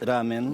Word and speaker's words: ramen: muchas gracias a ustedes ramen o ramen muy bien como lo pronunciaste es ramen ramen cuesta pronunciarlo en occidente para nosotros en Argentina y es ramen de qué se trata